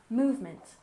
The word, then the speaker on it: movement: in civil civil and movement we stress the first syllable movement movement the civil rights movement